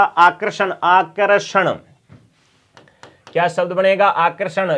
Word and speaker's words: आकर्षण: आकर्षण क्या बनेगा, आकर्षण, ठीक है। ये शब्द क्या है, इसका उच्चारण करोगे तो यहां आएगा, उच्चारण करके देखो, आकर्षण, आकर्षण, आकर्षण, यहां पर आएगा, बीच में रह का उच्चारण।